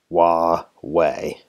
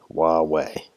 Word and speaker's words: Huawei: in one of the world's biggest tax companies wah way Huawei that's how you pronounce that I looked it up the Erasmus